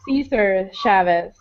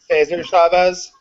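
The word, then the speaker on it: César Chávez: it's not the Hugo Chavis uh I'm probably pronouncing this wrong uh uh Caesar Chavis he was a civil rights activist who co-founded the national Farm Workers Association okay I think he actually Hisar Chavez um I I don't know I'm I think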